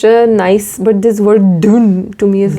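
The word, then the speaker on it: düğün: like say like this D then U with two dots on top of that then G with what? Silent silent G then U again with dots then N. So it is like dune.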